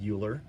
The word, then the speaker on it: Euler: his name was euler i know it's spelled euler but it's euler all right we're going